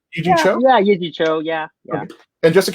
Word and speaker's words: Yee Jee Tso: Did I pronounce that right? It's Yee Jee Tso, right? Yee Jee Tso? Yeah, Yee Jee Tso, yeah.